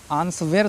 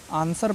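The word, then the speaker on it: answer: आंसर पढ़ते हैं आंसर आंस स्वेर तो नहीं पढ़ते हैं ना आंसर पढ़ते हैं क्यों क्योंकि डब्लू साइलेंट है एस के बाद आया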